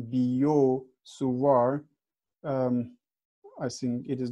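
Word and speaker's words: Biot–Savart: okay so this is the French pronunciation biot-savart I think it is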